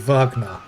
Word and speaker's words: Wagner: Wagner. It should be pronounced vagna, but the uh the German pronunciations in this game are a little off.